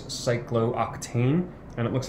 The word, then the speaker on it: cyclooctane: a little bit easier notice yes there's two O's that's not pronounced it's like glue tain that is cyclooctane and it looks like